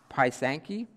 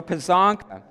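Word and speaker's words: pysanka: I pronounced this wrong I think it's pronounced Panki who said oh figures Daniel knows Daniel knows everything I'm kidding Panka okay thank you Daniel so pisanka and it's a a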